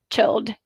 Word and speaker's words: chilled: And now, guys, honestly think, have you ever pronounced lived, chilled, enjoyed, tried with t?